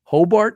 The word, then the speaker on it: Hobart: frothing but they're from it or they're from Hobart is that is that I pronounce the town yeah that's it yep okay